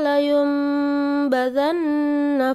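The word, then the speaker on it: لَيُنْبَذَنَّ: Kalla layumbadzanna fil hutamah. Nah, kalau kamu lihat di Al-Qur'an, layumba. Nah, ini nun sukun ketemu dengan ba.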